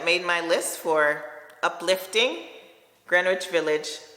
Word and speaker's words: Greenwich: my list for uplifting Greenwich Village Greenwich Village the W is silent is what I've been told from Bond number nine